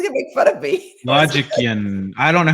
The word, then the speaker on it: Logician: Logistician? Logician. It's Logician. Logician.